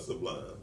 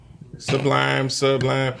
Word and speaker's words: Sublime: But you pronouncing it wrong. That's why he was being funny with you. No. It's called Sublime. Listen. Sublime.